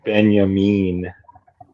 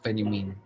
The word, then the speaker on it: Benyamin: the little guy once Benyamin Benyamin sorry Benyamin we're pronouncing things correctly now I think Cal